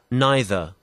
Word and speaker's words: neither: E를 I로 바꾸고 R 생략하면 어떻게 되죠? Neither. 그렇죠. 다시 neither 이렇게 발음하는 것들 neither 이렇게 발음이 되고 자, 그 다음 direct 이 단어 direct, 영국 발음은 E를 I로 바꾸면 간단하죠?